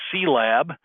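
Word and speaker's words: CIELAB: came in 1945 and there's see lab is the way we typically pronounce it from 1976 you'll notice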